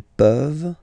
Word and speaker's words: peuvent: Nous pouvons, vous pouvez, ils peuvent, elles peuvent. Okay? As usual, this ending, this ENT ending, you write it, you don't pronounce it.